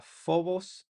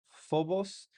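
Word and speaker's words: φόβος: La Fi suena como nuestra F, como en la palabra phobos, phobos.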